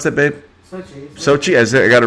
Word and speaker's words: Sochi: the winter olympics in sochi how do you pronounce that babe sochi has it got it right okay President Vladimir